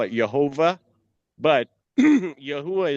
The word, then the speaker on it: Yahweh: But Yahwh is the Hebrew pronunciation of the most high.